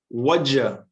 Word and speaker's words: what'd you: you see and again notice it's not what did you see it's wajah what did you what what you see that's how we talk normally what you see we